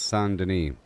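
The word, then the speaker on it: Saint-Denis: Don't forget it's pronounced sand. Got it, Goo. It's sand for that proper French flare.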